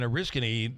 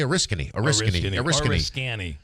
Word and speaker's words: Oriskany: But apparently in Oriskany, that's where the Oneidas were like, don't go to Oriska, the place of nettles.